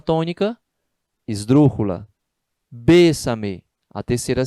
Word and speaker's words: bésame: Bésame, a terceira sílaba tônica, também é esdrúxula, né?